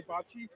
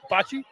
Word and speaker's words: bocce: you're Italian, and the right way to say bocce? Yeah. So we should say bocce instead of bocce. Bocce? Bocce. Bocce instead of bocce? Bocce. Wait, I think you said bocce instead of bocce. No. Bocce?